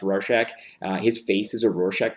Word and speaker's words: Rorschach: It is, I believe it's supposed to be pronounced Rorschach.